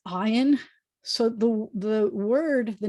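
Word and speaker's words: עין: And so it kind of makes a little bit more noise than your eye does. If you try to be a really noisy eye, nope, can't hear it. It's noisier than that.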